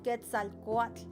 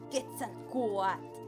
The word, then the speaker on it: Quetzalcóatl: A mí me gusta pronunciar la TL, la como Quetzalcóatl. Y siento que muchas veces la gente lo pronuncia Quetzalcóatl, pero la verdad eso es erróneo, no es correcto.